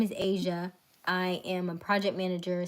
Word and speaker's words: Aysia: Asia like the continent I spell it differently but it's Asia like the continent now you love people